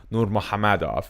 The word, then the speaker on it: Nurmagomedov: of all time in habib nur muhammad and yes that's actually how you pronounce habib's last name well you